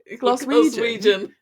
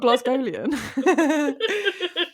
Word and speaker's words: Glaswegian: Glaswegian, not Glasgowian. Yeah, they're all Glasgowian. Should I say that to a Glasgowian person? I'll be like, my family's Glasgowian. I can't say it. Glaswegian.